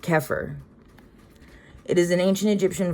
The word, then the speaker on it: Xeper: It's an Egyptian word that is spelled E per and pronounced keir.